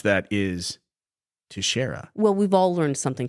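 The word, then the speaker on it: Teixeira: National secrets on Discord uh I believe I pronounced their last name as Taria which is like a portmanto of Texas and cafeteria I think and apparently the cor the correct way to pronounce that is Tara well we've all learned something today then tashera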